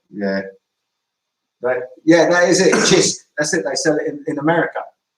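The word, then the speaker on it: Cisk: ever pronounces it different, it's actually pronounced Chisk. Yeah, the C is like a CH sound. Chisk. Because I called it Kisk. Yeah, they either call it Kisk or Sisk.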